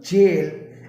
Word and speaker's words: gaol: g a o l its pronunciation is also jail and its meaning are also similar to jail or prison so these were the